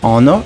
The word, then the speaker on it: honor: tá então palavras como Honor por exemplo e a gente não vai pronunciar Honor e h a gente vai pronunciar Honor e our PR letra